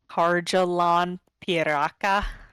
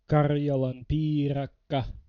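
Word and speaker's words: karjalanpiirakka: This is my American Harjalan Piraka. How do you say it? Karjalan piirakka.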